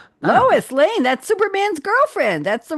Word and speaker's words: Lois Lane: Other roles include Eva Bed on the TNT series The Liberians and voicing Luis Lane. Lois Lane.